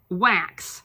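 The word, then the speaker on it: Wakse: It's pronounced wax. I looked it up because I didn't know how to pronounce W-A-K-S-E. Pronounced wax. It is Melt Away Hair Dissolving Cream.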